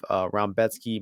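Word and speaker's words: Rębecki: I don't have a good understanding of the Polish language, because I don't know where the Raumbetsky syllables come from with this guy's name, but that's how they pronounce it.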